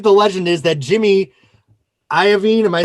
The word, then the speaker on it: Iovine: around i believe the legend is that jimmy iovine am i saying it right yeah he listened